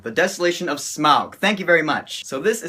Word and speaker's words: Smaug: Can I just start by saying that I hate it when people pronounce it Smaug? That's not how it's pronounced. It's not Smaug, it's not Smaug, it's Smaug. The Desolation of Smaug.